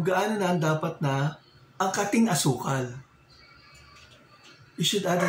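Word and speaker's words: angkating: Kung gaano na ang dapat na ang kating asukal.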